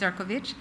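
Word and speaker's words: Šefčovič: Yes, spelled Seekovich pronounced Ciroich.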